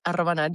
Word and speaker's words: Arroba Nat: It is Arroba Nat, you said it like correctly.